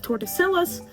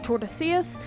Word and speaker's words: Tordesillas: And finally, on June 7th, Spain and Portugal signed the Treaty of Tordesillas, which divides the New World between the two countries. It's actually pronounced the Treaty of Tordesillas.